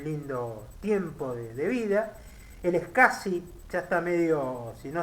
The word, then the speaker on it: SCSI: Les aclaro, el SCSI es eso que está escrito ahí, que dice SCSI, se pronuncia SCSI.